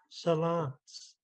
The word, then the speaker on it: Salance: Your cousin Dolly Garza spells it this way and pronounces it this way, Salance.